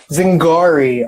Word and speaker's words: Zingari: correctly by the way it's Zig re zing gari okay my father that's